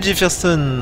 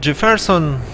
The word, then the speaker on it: Jefferson: oui on va bien Jefferson en fait on le prononce à l'anglaise mais c'est peut-être jefferon jeferon 28 je peux toujours